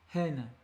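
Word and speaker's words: ἕν: et un V, mais qui se prononce en phonétique hen.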